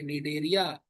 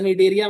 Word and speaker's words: निडेरिया: Coelenterate का एक और नाम है निडेरिया। सी साइलेंट है। सर निडरिया मत पढ़ना। ठीक है? निडरिया है ये।